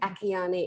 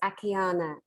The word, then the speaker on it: Akiane: And her name is spelled Akiane. It looks like Akiane. It's Akiana.